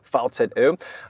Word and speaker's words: VCÖ: That's an O with the two little dots on top. To pronounce it correctly, the VCÖ.